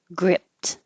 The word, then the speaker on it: gripped: Gripped. By itself, I overpronounced the T. You wouldn't be able to hear it. Grip, just close. You will hear the T if it's followed by a vowel.